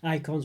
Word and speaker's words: Eikon: There's special attacks based on icons, which are basically summons or eidolons, whatever you say. The icons are spelled like EIKON.